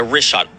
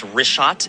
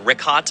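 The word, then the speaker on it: Richat: In the first couple uh I just want to say it's Rishot. I used to call it Rickot. I was mispronouncing it.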